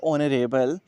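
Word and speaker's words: honorable: यहाँ पे अगर हम बात करते हैं ऑनरेबल, तो यहाँ पे जो एच है वो आपका साइलेंट है, और जो साउंड आ रही है वो आपके पास वॉवल साउंड आ रही है।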